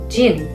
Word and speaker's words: Jin: The next syllable begins with a, J. which is closest to our J in English. And the second letter is the vowel. It's pronounced, I. in English it sounds like I. In English it sounds like E. And the third letter is, 은.